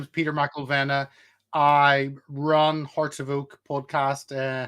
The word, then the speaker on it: Mcilvenna: guys today we got an awesome guest uh Peter uh maena I'm sorry I'm saying it wrong